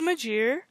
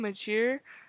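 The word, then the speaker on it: Magiere: the series like it's okay um this is majir uh that's how I pronounce her name majir it's spelled m-a-g-i-e-r-e um she is half human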